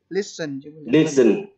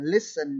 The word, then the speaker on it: listen: Anh phát âm lại cho em từ lắng nghe là listen chứ không phải listen.